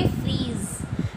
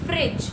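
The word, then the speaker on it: fridge: तो हम अब से क्या बोलेंगे? फ्रिज, ना कि फ्रीज.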